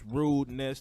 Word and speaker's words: RudenesS: RudenesS, 2 syllables.